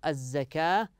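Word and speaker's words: الزكاة: وويل للمشركين كذلك هنا يا ابنائي الزكاه هكذا تنطق الزكاه الذين لا يؤتون الزكاه وهم بالاخره هم كافرون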